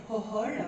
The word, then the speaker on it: Gogol: Alors c'est Mykola Gogol. Mykola Gogol, voilà. Tout à fait. Alors j'aurais dû même écrire Hohol, parce qu'en fait en ukrainien le que se prononce peu.